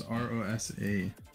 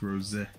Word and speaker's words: Rosa: Yeah, I thought it was R-O-S-A. Like Rosa, but it's Rose.